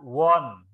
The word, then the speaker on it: one: ya bukan on ya dibaca one ini dibaca Won tulisannya A tapi dibaca Won bukan when ya jadi abu salah kalau kamu bacanya eien tapi dibaca Iwan tangki Amanda mau